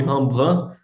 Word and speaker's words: Rembrandt: pintura do Rembrandt, né, também conhecido pela pronúncia francesa do nome, Rembrandt, né, mas aqui eu vou usar uma pronúncia mais próxima do original, e a gente vai